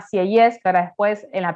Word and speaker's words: Sieyès: No digan Sieyès, como por ahí me lo dicen en los exámenes, se llama Sieyès, que ahora después en